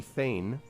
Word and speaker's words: Thegn: You could get a tract of land, you could get a title, which would be Thane, Thegn, with the G is silent, from the Bardings.